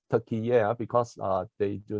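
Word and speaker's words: Türkiye: Partners so right now turkey is pronounced as turkey air because uh they do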